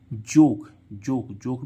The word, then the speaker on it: joke: इस ओ का उच्चारण अक्सर क्या होता है, ओ। यानी कि अब इसको हम क्या पढ़ेंगे, जोक मीन्स क्या होता है, मजाक, है ना।